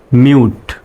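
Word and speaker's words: mute: করবেন এখানে কিন্তু ইংলিশের মতো ইংরেজিতে ওইভাবে সরল ভাবে উচ্চারণ করা যাবে না শব্দগুলো এখন আমরা সঠিক উচ্চারণ জানবো এখানে আছে এম ইউ টি ই মুতে না হয়ে এটা হবে মিউট মিউ would মিউট মিউট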